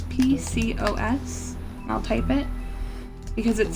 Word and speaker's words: PCOS: actually and just so you know it's it's pronounced Pecos but it's PCOS I'll type it because it stands for poly